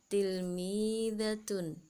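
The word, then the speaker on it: تلميذة: Kemudian untuk yang muannas atau yang perempuan, tilmidatun. Bunyinya tilmidatun, artinya murid perempuan. Nah, begitu anak-anak untuk cara membacanya.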